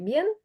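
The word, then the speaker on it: bien: справжній там Іспанець цілієць аргентинець хто завгодно говорить б'єн він вимовляє це б не як би ми сказали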